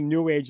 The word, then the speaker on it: New Age: I always say New Age is one word, so it rhymes with sewage.